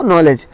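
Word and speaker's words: knowledge: हुई नॉलेज, KNOWLEDG, तो नॉलेज। नॉलेज इस तरह के कुछ वर्ड होते हैं जिनमें एन के पहले के आता है तो साइलेंट होता है।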